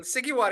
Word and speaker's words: Sghiouar: is fine uh yes sigar if you want that's how typically people pronounce my last name um yeah I'm uh